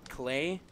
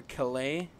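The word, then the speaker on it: Klei: a great job but I believe it's pronounced clay or Calais K e Li or que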